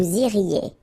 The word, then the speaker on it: iriez: Vous iriez. Remember, when you get this EZ at the end, you get the sound E.